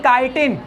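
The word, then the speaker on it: chitin: बनी है मेनली मतलब काटिन याद रखना फंजा की सेल बोल का से मिल के बनी काटिन है ना केटिन नहीं बोलना क्या बोलना है काटन स्पेलिंग सही लगी है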